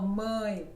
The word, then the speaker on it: mãe: Ou então, olha, por exemplo, mãe. Mãe. Exato, é mais forte. Mãe. Aí nota-se. Mãe. Sim, Mãe bem diferente. é mais Mãe. forte no Brasil.